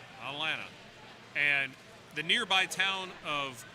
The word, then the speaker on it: Atlanta: We've discussed the silent T's in the native pronunciation of Atlanta. Atlanta.